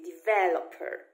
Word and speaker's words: developer: Ale jeśli mówimy po angielsku, to po angielsku ten akcent się nie przesuwa i on jest na vel, czyli develop, develop. I on zostaje na vel we wszystkich słówkach z tej rodziny, czyli developer, development, rozwój, development.